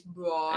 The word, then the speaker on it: Braun: And they have the next Brown up, Christian Brown. It's Braun. It's Brown. It's spelled Braun. It's Brown. I always thought it was Braun and KU. Then he comes to the NBA. It's Brown.